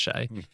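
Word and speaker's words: Hsieh: And his surname's spelled H-S-I-E-H, Tony Shea, but it's pronounced Shea.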